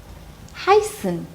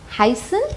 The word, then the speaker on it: heißen: Zum Beispiel, heißen. Heißen is a verb, it means to be called. You see, heißen. I am making the S slightly sharp.